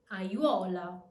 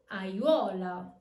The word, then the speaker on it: aiuola: Combinations of more than 3 vowels don't exist, so A makes its own syllable and it's pronounced separately.